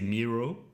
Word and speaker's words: Miro: one knows that's true so i've been in touch with some people uh in-house in there who say mirror and i've been in